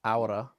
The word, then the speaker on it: Aura: Aura, right?